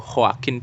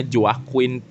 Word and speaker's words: Joaquin: Di sini ada sutradaranya Todd Phillips dan pemeran utamanya yaitu Joaquin Phoenix, atau orang Indonesia bacanya Joaquin Phoenix.